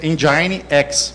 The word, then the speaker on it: NGINX: o ngex próxim engex como todo mundo notou se pronuncia Engine x Motor X Ele é